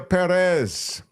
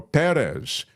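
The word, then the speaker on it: Pérez: Amelia Perez, or Perez, because the accent is on the first syllable.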